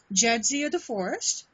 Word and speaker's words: Jadzia DeForest: Arwin and this is correct me if I say your name wrong jedia the forest that's correct okay I don't know if it was Jia or jazia um she and Jay